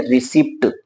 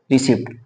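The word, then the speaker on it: receipt: अब देखिए दो कॉन्सोनेंट एक साथ आए हैं तो पहले वाले कॉन्सोनेंट को आधा और दूसरे कॉन्सोनेंट को पूरा, तो क्या पढ़ेंगे रिसिप्ट। क्या पढ़ेंगे इसको रिसिप्ट।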